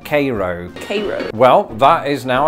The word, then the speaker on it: Cairo: not too long ago we pronounce it Cairo I could definitely see